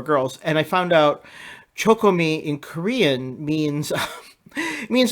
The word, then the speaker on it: CHOCOME: It's pronounced CHOCOME.